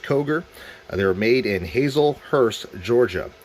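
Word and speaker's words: Kauger: made by Koger arms that's k-a-u-g-e-r that's pronounced Koger they're made in Hazelhurst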